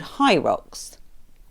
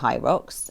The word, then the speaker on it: HYROX: based at Olympia in London and it's called H rocks and that's spelled h y r o x so I